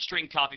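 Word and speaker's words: strcpy: str CPY which is pronounced string copy left parenthesis and then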